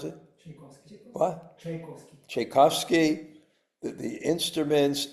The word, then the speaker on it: Tchaikovsky: And the orchestra, Tchaikovsky, what's how do you pronounce it? Tchaikovsky.